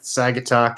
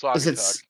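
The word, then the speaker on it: Saugatuck: uh Holland and like Sagetuck and all that like that whole area. And like the what you say sagetuk? It's satuck.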